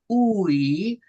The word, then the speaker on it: aUI: It's AUI. It's AUI. Uh the the vowels are pronounced uh separately, and uh the capitals are pronounced longer, are held longer. Uh AUI.